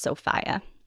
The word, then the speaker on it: Sophia: But according to different maritime museums that make videos about this particular disaster, it is pronounced Sophia.